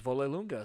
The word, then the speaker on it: Vollelunga: actually found out that that is how you pronounces Wolle lunga so his like whole life they've been saying